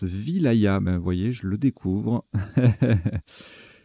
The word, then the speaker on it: wilaya: ailes à sa sauce ça se prononce wilaya ma voyez je le découvre petite découverte donc on dit wilaya ok division administrative de